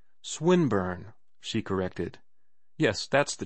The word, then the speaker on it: Swinburne: it meant this man swine burn he began attempting to put his plan into execution and pronouncing the i long who swineburn he repeated with the same mispronunciation the poet swinburne she corrected yes that's